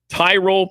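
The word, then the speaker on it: Tyrol: Tyrell pickle ball shoes make the only shoe that's truly built for the sport. It's spelled T Y R O L.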